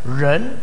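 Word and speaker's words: 仁: Jadi istilah ren, semua ikut ren. Bacanya sama-sama ren ini. Jadi manusia itu ren, manusia yang sudah sukses ren, sama bacanya ren, ren.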